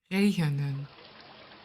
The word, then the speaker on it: regenen: Read along when I pronounce these verbs and mimic my sounds. Regenen.